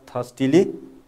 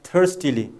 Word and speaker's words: thirstily: So you can find British people pronounce it as thirstily. You know, the raw sound is silent there. And American people pronounce it as thirstily. Raw sound is clearly pronounced there.